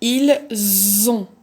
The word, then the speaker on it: ils ont: n'écris rien du tout donc je dit il z'ont donc je vais prononcer le z mais je ne veux